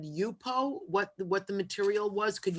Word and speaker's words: YUPO: So I also was interested in, and I couldn't catch what you said, UPO, what the material was. Could you spell that? It's YUPO.